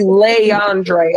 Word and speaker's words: Leandre: DMG, his name is actually Leandre.